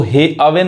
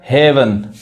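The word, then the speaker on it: heaven: देखिए हील speak हेवन अब इसको हे अवेन नहीं कहेंगे समझ में आ रहा है हेवन समझ में आ रहा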